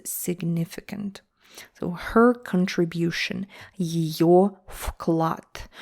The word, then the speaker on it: вклад: So her contribution, ее вклад. Вклад, it only sounds like вклад. It's spelled as вклад with V. Вклад.